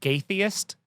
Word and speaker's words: Gaytheist: so their their band name was called uh gaytheist oh and uh all that gay and then theist um so spell it g-a-y is there a dash or just